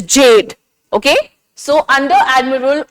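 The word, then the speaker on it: Gjedde: G is silent here and it is Jade. Okay? So under Admiral O. Jade, he was the one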